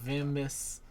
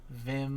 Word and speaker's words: Vim: have Chad as well playing vimus Vim no it's just Vim it's just one syllable we're not we're not